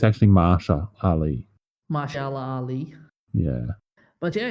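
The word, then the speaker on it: Mahershala Ali: I forgot to mention it's being played by Mara Ali he was famous for a movie called greenbook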